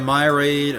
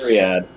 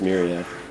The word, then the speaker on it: myriad: From within the glass walkway, we're surrounded by a myate of colorful marine life. Myriad. Whatever. It's pronounced It's pronounced Myriad.